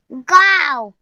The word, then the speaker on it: गाँव: गाँव, गांव। न का उच्चारण ग, ग से न का उच्चारण होना चाहिए।